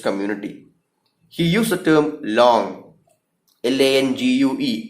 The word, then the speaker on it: langue: He used the term langue, LANGUE. നമ്മൾ ലാങ് എന്ന് പലപ്പോഴും പറയാറുണ്ട്, പക്ഷെ ലോങ് എന്നാണ് അതിൻ്റെ ഉച്ചാരണം എന്നുള്ളതാണ് ഞാൻ മനസ്സിലാക്കിയിട്ടുള്ളത്.